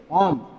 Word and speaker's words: ओम: Right, this is called the ऐसा unit of resistance whose pronunciation is ओम.